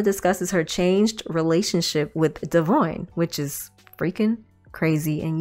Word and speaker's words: Devoin: But anyway, Devoin's correct pronunciation of his name is Devoin. It's not Devon.